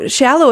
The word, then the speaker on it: Schalow: So Schalow is how it's pronounced, and we're not a shallow people. It's shallow water, which works well with the swan theme, right? And the meaning is actually scholar, which is why it's spelled with the SCH.